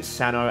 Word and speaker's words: Cyno: are gonna be like why are you pronouncing Santa on kandake that way well for me as someone who has had my name mispronounced almost all my life I would like to do my due diligence and trying to do do my best to correctly pronounce the names from the respective characters from different cultures and I think the one